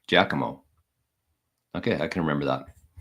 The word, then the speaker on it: Giacomo: Okay, so I thought Giacomo or Giacomo. I said Guacamo. Mugatu says Giacomo, and the Giacomo himself says it's pronounced like Giacomo.